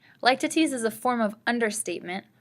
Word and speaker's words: litotes: something directly our next literary term is called light two teas please refrain from trying to call this litotes that's not how it's pronounced like to tease despite what it looks like like to tease is a form of understatement formed by a